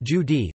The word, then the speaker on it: Jude: The German word Jude is pronounced Judi, the corresponding adjective Judish, J-Y-D, Jewish, is the origin of the word.